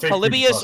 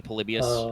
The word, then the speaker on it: Polybius: first one they're both they're both polybius or i've heard it pronounced literally i've heard it both ways it's spelled uh polybius i believe it might also be polybius they're they're fake creepypasta